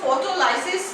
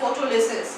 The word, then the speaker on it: photolysis: फोटोलिसिस, लिसिस means somewhere it is pronounced as लाइसिस। तो फोटोलाइसिस या फोटोलिसिस, सो लाइसिस means to